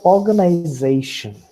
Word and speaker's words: organization: So what is more important in this word are the 2 syllables. One is or, and the other is they. Now, the sorry, uh, the mark at the bottom is called as secondary accent, and the mark at the top is called the primary accent.